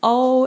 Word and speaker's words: Au: In case you are wondering how to pronounce my name correctly, it's O as in oh my god.